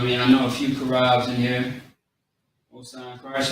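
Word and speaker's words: Chaarab: So we got the C-H-A-A-R-A-B. Okay? Karab. Is how you say it quickly.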